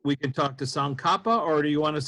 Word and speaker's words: Tsong Khapa: Tsong, Song, or think of Song, Tsong Khapa, like Frank Capra without the R.